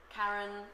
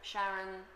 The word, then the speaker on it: Charon: partner for Pluto Sharon there are many different ways of pronouncing it um Karen Sharon Sharon I tend to swap between them depending on the sentence so apologies for the